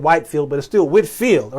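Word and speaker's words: Whitefield: oh yeah we're getting close y'all George wood Whitfield his name is is spell different a couple ways okay Whitfield sometimes it's some time as white as this pronounced white is spelled white field but it still Whitfield all right George Whitfield he I believe was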